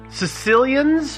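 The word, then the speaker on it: caecilians: i ns NS yeah not Sicilian right but it's pronounced very similarly uh they're amphibians uh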